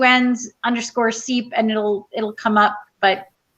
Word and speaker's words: Czep: I think I pronounced it wrong, so I'll just. It's okay, it happens all the time. It's Seep.